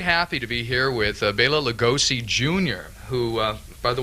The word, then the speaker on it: Bela: Well, it's commonly mispronounced, Bella. Yeah, well, up to today, that's what I was pronouncing. So, people think, oh, he must be Italian, but not so. Dad was Hungarian, and that's a common Hungarian name.